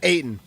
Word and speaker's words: Ayton: And just like that, I don't know how you pronounce his name for the Blazers. Is it Ayton? Yeah, Ayton.